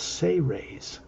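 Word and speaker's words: Seres: a race called the say raise spelled s-e-r-e-s but pronounced as if it was spelled s-a-y hyphen r-a-y-s say rays they are much older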